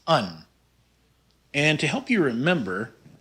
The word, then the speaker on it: een: without the exit marks is an exception in dutch it's pronounced un and to help you